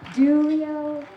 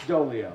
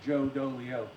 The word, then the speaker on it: Dolio: DeLeo from tactical wisdom Julio it's dolio dang it it's just like it's spelled my parents they don't like me that's why they made my name rhyme Joe dolio hi guys uh I'm